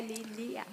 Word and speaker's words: Lília: É Lília ou Lilian? Lilia, sem M, sem N, Lilia.